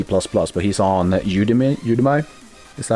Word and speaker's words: Udemy: You you say it Udemy, not Udemy.